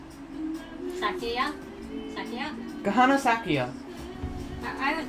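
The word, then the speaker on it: Sakuya: It's not Sakura, by the way. It's not Sakura? No, it isn't. Sakia?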